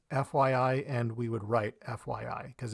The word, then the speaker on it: FYI: lot of syllables so when I'm speaking I would just say fYI it's also shorter to